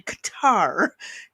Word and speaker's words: Qatar: Um, the one thing that drives me nuts are the people calling it cutter when it's actually Qatar.